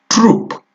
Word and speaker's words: troupe: Next one, the word is troop. The word is troop.